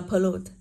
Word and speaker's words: pollute: Ý C tới đọc là pollute. Thì cô có per không nhận trọng âm, vậy trọng âm rơi vào âm tiết thứ hai.